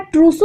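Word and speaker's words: Trousseau: इसका प्रोनाउंसिएशन है ट्रूसू और इसका प्रोनाउंसिएशन है वॉस्टेक्स।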